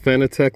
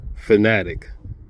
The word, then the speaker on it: Fanatec: And the reason why I call them Fanatic instead of Fanatec like everybody else calls them, another interview they had Jack and Meyer, and the guy asked him, how do you pronounce it? Fanatic.